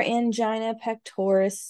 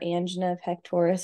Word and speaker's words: angina pectoris: friends let's go over angina pectoris today or angen pectoris it's pronounced like both ways but it doesn't matter just recognize what the